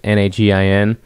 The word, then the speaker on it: Nagin: I don't pronounce his last name. It's Nagin. Nagel.